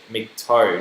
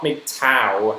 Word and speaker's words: MGTOW: first MGTOW, and yeah, that's how I pronounce it, MGTOW, not MGTOW.